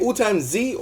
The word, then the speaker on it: AllTimesZZZ: AllTimesZ or AllTimesZZZ? I think it's AllTimesZZZ. So okay, yeah, whatever. I don't know how you say it. I'd say AllTimesZ, like as in Z, AllTimesZ.